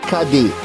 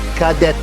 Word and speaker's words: cadet: le frère cadet ونخلي بالنا ان التي هنا silent او مياه. التي مياه او ما بتتنطقش عشان في كلمات كتير في الفرنسي ان في الحروف بتاعتها بتبقى مياه او ما بتتكتب بس ما بتتنطقش.